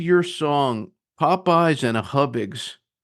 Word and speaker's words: Hubig: a what is it hiig and it's it's pronounced hubig but it's a little fried pie that you